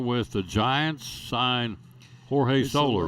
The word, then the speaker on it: Soler: His relatives that don't make over $10 million a year are Solers, I guess. You know how there's Morals and Morels and all that. You know, Soler is how you say it.